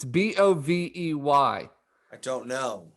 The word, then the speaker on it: Bovey: Why isn't it pronounced Bovey? It's Bovey.